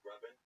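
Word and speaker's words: Rabin: Robin. It's pronounced Rubin. Rubin? But it's spelled R-A-B-I-N? Spelled Raven. No, the A makes the same sound as the first.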